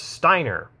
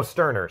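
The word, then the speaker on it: Stirner: bring that up though because steiner i think that's how you pronounce it no sterner sorry max sterner the ego and his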